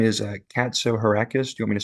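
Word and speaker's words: Katsohirakis: For the record, my last name is Katso Heracus. Do you want me to spell it?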